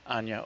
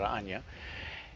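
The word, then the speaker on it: Ajna: Vishuddha; the third eye, Anya or Agya, depending on how you pronounce it. My people call it Anya.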